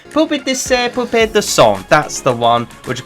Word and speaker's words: Poupée de Son: Oh, let me pronounce it a bit better. That was dire of me, I'm so sorry. Poupée de Son.